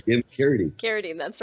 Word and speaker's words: Carradine: I'm pronouncing that wrong. That's right, David Carradine.